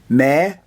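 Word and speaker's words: מְדֻכָּא: And the aleph at the end is silent like they normally are. So it's me-du-ka.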